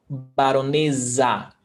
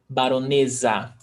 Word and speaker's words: baronesa: And remember, one S between vowels, it's pronounced Z. Baronesa, with a Z sound. Baronesa.